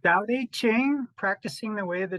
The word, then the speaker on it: Tao Te Ching: So I read most of your book, and which is practicing the way of, is it Tao Te Ching, or how do you say that correctly? The Tao Te Ching, practicing the way of the Tao Te Ching.